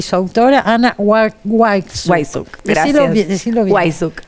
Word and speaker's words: Wajszczuk: No, a vos porque yo tenía entendido que la W se pronunciaba como B. Sí, en realidad si vas a Polonia es Weiss. B. Sí, no tenías. Pero no. Pero acá se argentinizó.